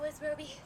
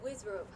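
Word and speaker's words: WizRobe: Yeah, betcha, Wiz Roby. Okay, so I keep saying Wiz Roby, but I have a feeling the E is silent. Or not silent, just not supposed to be pronounced. So Wiz Robe.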